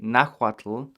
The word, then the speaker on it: Nahuatl: so not hua so a lot of english speakers will see nawaz and say nahuatl but there's no h pronunciation the hu represents a wha sound you have okay so